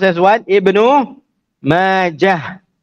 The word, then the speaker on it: Majah: an alif, ma, and the end of it is a ha with a sukun. End of Ibn Khalliqan's words. Intaha kalamuhu rahimahullah. Can? So it is pronounced as what? Ibnu Majah, not Majata, Majah.